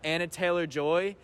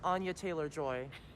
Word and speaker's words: Anya Taylor-Joy: Chris Pratt, Anna Taylor-Joy, Seth Rogen, Jack Black as Bowser. I mean, come on. Yeah, all-star cast. How much is that movie gonna cost? I do think it's pronounced Anya Taylor-Joy.